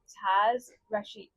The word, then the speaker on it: Taz Rashid: I'm here with DJ Taz Rashid.